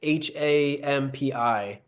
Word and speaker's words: Hampi: But have you ever, so do you know that they I'm gonna say it wrong, but the Hampi or Hampi stone doors in India, it's Hampi.